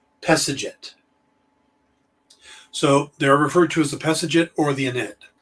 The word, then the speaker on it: Pesedjet: Now, the reason it's difficult to pronounce is that it would actually, in hieroglyphics, it would be PSDT, because hieroglyphics don't have vowels. So, but if you actually tried to write it out, it'd be Pesedjet, Pesajit.